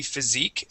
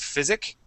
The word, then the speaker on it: physique: This word should be physique instead of physic. Okay. Uh, physique is spelled uh, it's almost the same, okay? But it's spelled like that with a qu u at the end.